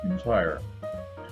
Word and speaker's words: Entire: It says that it's a strong porter called Thrale's Intire, Intire, pronounced Intire. Was brewed at Anchor Brewery in Southwark Parish, London, near the end of the 18th century.